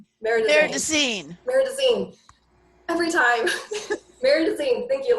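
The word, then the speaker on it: Marais des Cygnes: Meridazine.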